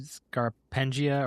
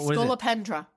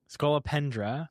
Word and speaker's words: Scolopendra: Scarpenia or what is it? Skull. Scolopendra. Scolopendra.